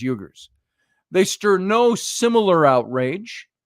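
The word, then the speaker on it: Uyghur: on Muslim uh uh I don't even pronounce how to know how to pronounce it the yugar the u y g hu RS I think it's yuger they stir no similar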